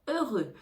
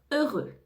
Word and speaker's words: heureux: la prononciation du mot heureux on ne prononce pas le H et on ne prononce pas le X on entend deux fois